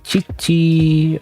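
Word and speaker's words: 父: Is this chi-chi chi-chi? Okay, this is a like a two sentences. So like chi-chi.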